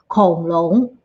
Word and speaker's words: 恐龙: For dinosaurs, we say Kong Long. And you can see I put a little bit note on here. Kong Long, it means dinosaur, but it can also be used as a slang.